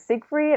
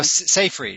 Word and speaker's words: Seyfried: I'm definitely familiar with, is it Siegfried? I never know how to pronounce it. No, Seyfried. Seyfried.